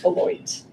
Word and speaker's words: Beloit: Robin Zabrowski is a professor of cognitive science at, is it Beloit? Beloit. Good, yes. Terribly mispronounced if you were French.